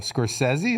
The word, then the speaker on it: Scorsese: new martin scorsese movie no scorsese is that how you say it yeah okay hold on got